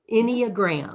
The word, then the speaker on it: Enneagram: it correctly you are any just like anybody anyagram nine points is what